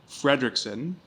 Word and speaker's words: Frederiksen: SP multiple ways so it's a Danish last name my great great great grandfather was Danish Frederickson but it's spelled f r d e r i k s n so the big thing is there's no C in your name there's no C and it's an senen not an o n o